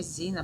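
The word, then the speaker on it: Xenia: Because X, if you have X at the beginning of the word, it's pronounced as Z. So that's why it's Zena because you know letter X.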